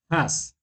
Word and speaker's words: has: verás en este caso esta H por lo general tú la vas a hacer sonar como una J como el sonido de una J pero más suave entonces decimos has has Okay okay profe entonces